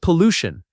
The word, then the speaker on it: pollution: The word pollution has stress on the second syllable.